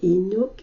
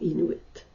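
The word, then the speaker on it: Inuk: je dois vous dire qu'au masculin singulier généralement on prononce inou et non inouite et voilà donc l'inculpé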